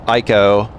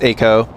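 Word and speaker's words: Eiko: thought it was pronounced eeko. I mean, I always thought that you pronounced the I because it's like, why would you put the I there if it was not meant to be pronounced.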